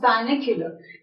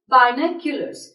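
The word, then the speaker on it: binoculars: spelling mistake there is इट्स not pronounced बायने कुलर it's pronounced बाइन कूलर्स they are few nouns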